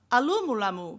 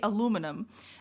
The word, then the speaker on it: aluminum: say 38 square meter, tap the house alumulamu because she can't say aluminum.